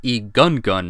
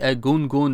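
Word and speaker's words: Egungun: be honest with you for years had been pronouncing that as a gun gun mask because well I am an American after all anyway the largest example I found of the edgungun Mask is a lofty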